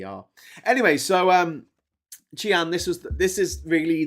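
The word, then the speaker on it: Xi'an: Um if you go to Chian here, uh Chian, this is the legendary um this is the former capital of China. So that the X in Chinese is pronounced a a ch sound.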